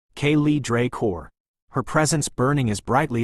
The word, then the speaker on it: Kay's Draor: Next came Lady Kay's Draor, pronounced Kaye Draor.